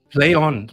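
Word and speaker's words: Plaion: that put it out is it Pon or play on play on play on before it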